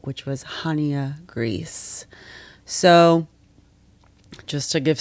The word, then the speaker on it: Chania: So Chania is actually spelled with a CH, sort of like the traditional way you spell Hanukkah.